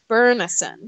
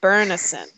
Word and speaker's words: Byrnison: I think that I the way I've heard it or the way I heard it in my head is similar to way I think the way they pronounce it in the film which we can have a whole other discussion about the film and how terrible that is but it's more like Byrnison so it's like York